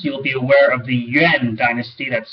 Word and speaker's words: Yuan: in ancient times you'll be aware of the yuan dynasty that's spelled y u a n the yuan dynasty